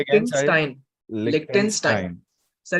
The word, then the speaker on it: Liechtenstein: Sir, it is pronounced as Liechtenstein. Liechtenstein.